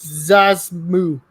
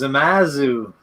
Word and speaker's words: Zamasu: It's in the gap by the fused Zazmu. No, he is not. Zamas. I just said that totally freaking wrong. Zazmu. It's Zamasu. Zamasu.